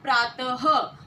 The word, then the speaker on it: प्रातः: इसका उदाहरण है प्रातः। प्रात ह की आवाज आपको सुनाई दे रही है।